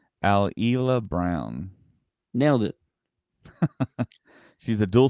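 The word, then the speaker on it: Alyla Browne: this actress's name is kind of hard to pronounce here it's alila brown nailed it she's a dual citizen of Australia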